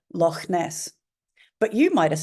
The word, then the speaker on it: Loch Ness: But I say Loch Ness. So that CH, because I'm Scottish and because I know this is a Scottish word, to me will be pronounced.